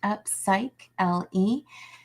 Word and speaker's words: Upsychelly: I have had a couple of people ask me how to pronounce upcycly, and it's pronounced upcycle. It's basically sounds like upcycling without the ng.